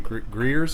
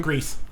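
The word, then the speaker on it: Gries: Jonathan Greers, is that his name? Grease.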